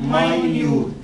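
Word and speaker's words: minute: يعني قاموس كبير كده منت هيبقى النطق بتاعها اتنين. منت دقيقه 60 ثانيه. دقيقه ده تقديرات الايه؟ التايم معناها الوقت. طب نفس السبيلنج يا هاجر واقول ماينيوت. ماينيوت يعني ضئيل.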